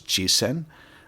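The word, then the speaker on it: 実践: of this word on the screen, which is pronounced as jisen, which means in practice or putting into practice.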